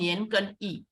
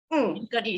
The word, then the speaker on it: Nian Gen Yi: Okay, and the shop name is called Nian Gen Yi. Nian Gen Yi is spelled NIANKERNYEE, Nian Gen Yi.